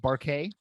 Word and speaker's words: Buarque: me if I'm wrong is your last name pronounced barquet correct it it's a tough one and and